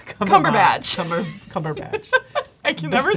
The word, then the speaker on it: Cumberbatch: Benedict Cumberbottom. Cumberbatch.